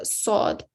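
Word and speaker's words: ص: This letter has the same articulation point as the letter sin. So you're still pressing your teeth together, but the top of the tongue is raised to the roof of the mouth to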